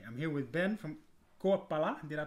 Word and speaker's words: Koepala: So hey, I'm here with Ben from Koepala. Did I pronounce it correctly?